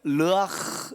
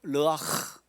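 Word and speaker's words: רוח: 르아흐. 이 히브리인들은 가래침을 많이 뱉어야 이 원어가 발음이 잘 돼. 르아흐예요. 르아흐.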